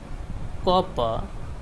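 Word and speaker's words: copper: The letter are इज not pronounced when it occur at द एंड ऑफ a word. जब word के आखिर में आर आता है तो उसका साउंड नहीं निकलता है, जैसे कि रिवर, कॉपर, कलर, पीटर, पिटे।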